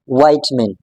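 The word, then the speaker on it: vitamin: Okay, in British English we can pronounce this word as विटामिन, विटामिन, विटामिन, but when it comes to the American English, so the pronunciation changes, it completely shifts, it completely changes.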